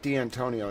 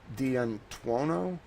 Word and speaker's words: D'Antuono: It's not D'Antonio, it's D'Antuono.